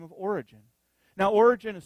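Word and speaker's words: Origen: previous Theologian by the name of origin now origin is spelled almost like when we would say origin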